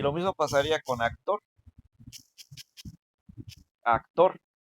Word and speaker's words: actor: Y lo mismo pasaría con actor. Actor. Actor también es aguda porque la sílaba tónica es la tor, o sea, es la última sílaba, ¿no?